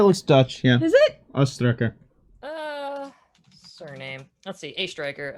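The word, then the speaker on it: Oestreicher: c h e r a striker you put a pronunciation key next to this yeah it's a is in the letter a and then striker as in the cop the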